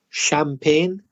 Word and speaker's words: champagne: for Spanish speakers because that CH is sure it's not the same as cha like chat it's a different sound it's Shh like she or shall chef champagne Chalet numbers are often difficult